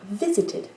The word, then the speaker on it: visited: Si vous dites visit, donc voilà, accent par défaut sur la première, et vous allez avoir une troisième syllabe avec la flexion en ED. Et donc là, c'est neutre. Donc ce qu'on va avoir, c'est l'accent de mot ne change pas du tout. On va juste avoir visited.